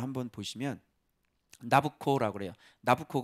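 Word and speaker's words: Nabucco: 보시면 나부코 라고 해요 나부코 가 느부갓네살의 이탈리아 발음의 나부코 해야 되나 보고 누부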